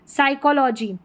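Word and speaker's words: psychology: यहाँ पर है टॉर्मिगन, टॉर्मिगन तो पी साइलेंट है। साइकोलॉजी क्या है, साइकोलॉजी, यहाँ पर ये अलग से स्पेलिंग आ गई है, ठीक है।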